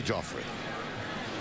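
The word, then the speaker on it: Geoffrey: fund left side Joffrey what's spelled the same way is Jeffrey bacon GE o FF re why he said please call me Jeffrey okay kenny near milo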